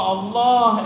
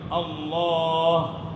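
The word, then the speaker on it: الله: അപ്പോൊ ഇനി അുബില്ലാഹിലേക്ക് നമുക്ക് വരാം അുബില്ലാ അുബില്ലാഹി അപ്പോ അള്ളാഹ എന്ന ഉച്ചാരണം നമ്മൾ ശരിയാക്കണം അള്ളാഹ അള്ളാഹ ലാഇലാഹ ഇല്ലളാ ചൊല്ലി നോക്കേ വേണൊന്നും പോരാ അതായത്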